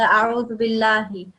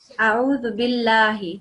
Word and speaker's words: a'udhu billahi: Don't say it in a thick sound, the a'udhu billahi. It's a thin a'udhu billahi, like this.